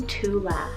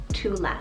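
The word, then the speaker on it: Tuathla: name we have the name tula spell it t-u-a-t-h-l-a tula it means princess of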